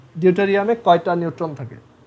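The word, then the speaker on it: deuterium: এটাকে বলা হয়, এটাকে তখন বলা হয় তোমার উচ্চারণটা আমার ঠিক মনে আসতেছে না, এটা হচ্ছে ডিট্রিয়াম, আর যদি ডিউটেরিয়াম, আর যদি 3টা থাকে তখন সেটাকে বলা হয় ট্রিটিয়াম, ঠিক আছে। সো এটাকে বলা হয় ডিউটেরিয়াম, কারণ ওর ম্যাস নাম্বার 2, বাট তাদের দুজনেরই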